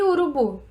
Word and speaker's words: urubu: E urubu? Urubu é a última sílaba também.